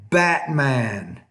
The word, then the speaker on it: Batman: is the glottal stop in American English we don't really pronounce that T in the middle we'll say Batman bitten important brightening Hatrack